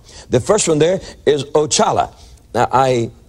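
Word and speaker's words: Oxalá: first one there is ochala now i i had to give you the brazilian pronunciation of those otherwise you wouldn't be able to pronounce them like they do down there ochala and he is the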